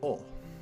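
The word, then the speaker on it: お: This should be O. O. This is the O, or O. It's the equivalent of the vowel O in English. You pronounce this one as O, like O-H.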